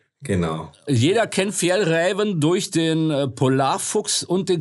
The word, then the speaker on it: Fjällräven: Genau, Fjällräven. Genau. Jeder kennt Fjällräven durch den Polarfuchs und den Klassiker-Rucksack. Wie spricht man den aus, Alex, bitte?